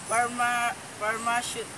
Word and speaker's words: pharmaceutical: Next example is pharmaceutical. The stress is put in third syllable.